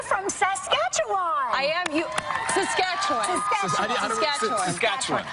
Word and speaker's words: Saskatchewan: Saskatchewan. I say it like the Muppet song.